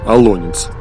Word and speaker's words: Олонец: Нормативное ударение в русском языке на вторую гласную – Алонец. Однако ударение на последнюю гласную – Аланец – распространено, присутствует в словарях и допустимо.